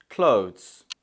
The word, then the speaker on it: clothes: clothes. The correct option is B, clothes, clothes.